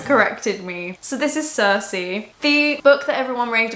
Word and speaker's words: Circe: I've been saying, like, calling it Cirque for a very long time, and I cannot believe no one's told me I've been saying it wrong.